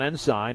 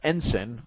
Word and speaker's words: Ensign: 321 Ensign, or Ensign, whichever pronunciation you prefer.